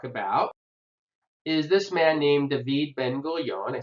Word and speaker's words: David Ben-Gurion: is this man named David Ben-Gurion. I say David, I know it says David, but in Hebrew you pronounce his name David Ben-Gurion.